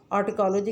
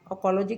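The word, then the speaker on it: autecology: हम लोग जो हैं, जो हमारे बाकी टीचर्स हैं, तो वो ऑटकोलॉजी कहते हैं। लेकिन जो नेटिव स्पीकर्स हैं वो टी की साउंड नहीं निकालते, अकोलॉजी कहते हैं।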